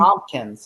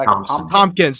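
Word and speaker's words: Thompkins: Tom Tom, how do you pronounce that last name? Tomkins. Yeah. Tommpkins.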